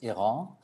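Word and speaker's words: Airain: We are going into the design stage slowly with that, and that's a brand Erin, that's I pronounce it, but in French the official pronunciation is Iran.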